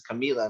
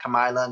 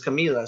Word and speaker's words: Camilla: brain and said okay this is camilla not kamilah not this is camilla so so it's listening